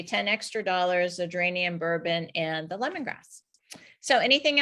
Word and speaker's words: Bourbon: And what she explained to me about the geranium is she said that it's pronounced Bourbon, Geranium Bourbon.